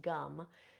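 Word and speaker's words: Gam: sound gum which is it's spelled g m but it's pronounced gum is the seed sound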